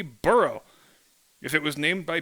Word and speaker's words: burgh: would use b-u-r-g-h and the correct pronunciation would be burrow if it was named